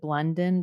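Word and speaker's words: Blondin: is Sarah I think she pronounces it blundon but it's spelled blondon and her meditations I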